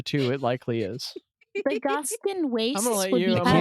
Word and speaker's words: Gaskán: And there's a little accent on the second A, because of course there is, because it's Zach.